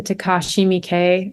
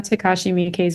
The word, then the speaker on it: Takashi Miike: First of all, because I can't tell you how many times I pronounce this name. Takashi So Miyake. Yeah, it's like a subtle nod to Takashi Miike because I didn't want to use his exact same name.